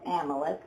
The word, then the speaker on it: Amalek: For the hand of Amalek, is that how you pronounce it? Amalek? No, Amalek. Amalek.